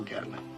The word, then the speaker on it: Gatling: Technical Sergeant Gatling. Down in Georgia, we pronounce it Gatling.